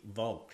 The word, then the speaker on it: Vogt: Vogt. That's a German pronunciation for V-O-G-T.